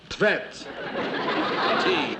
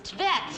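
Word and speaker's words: Tvedt: How would you pronounce that then? Tvet. T-V-E-D-T.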